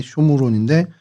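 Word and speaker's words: שומרון: 사마리아는 그 쇼무론이라는 발음이 돼요. 원래 히브리 말로는 쇼무론인데 그게 이제 헬라어로 사마레이아라고 이제 발음이 되다 보니까 오늘날까지도 그냥 저희가 사마리아로 주로 이렇게 발음을 하고 있습니다.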